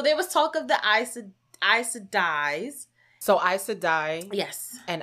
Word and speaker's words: Aes Sedai: That makes me also feel like, because there was talk, and I'm going to say this name wrong, the Aes Sedai's. You said it. Aes Sedai's. Aes Sedai.